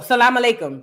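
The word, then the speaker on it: Salam alaykum: it says Salam um how do you say that alayum oh Salam alikum that's how you say it I ain't never seen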